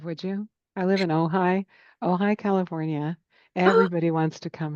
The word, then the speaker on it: Ojai: So Ojai, California. I wrote that down to do. OJAI is how you spell it.